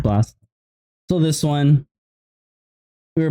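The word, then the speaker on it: Blxst: how to pronounce this I would say it's Bliss it's B lxst and offset BL okay is it just blast okay just blast so this one we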